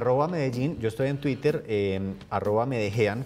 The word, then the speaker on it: Medellín: En @Medellín, yo estoy en Twitter, @Medejean, como se escribe Blue Jean, @Medellín. Porque siempre lo cuento, es una forma de enseñar a los extranjeros a decir Medellín como debe decirse y no Medellín, que es como lo dicen muchos que hablan inglés y otros idiomas.